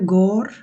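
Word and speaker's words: går: বাট আপাতত এভাবে শিখে নেন, এটা উচ্চারণ হবে গোর, আর এটা হবে ইয়ার।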